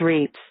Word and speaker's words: REIT: Real Estate Investment Trust RIT pronounced read is a company that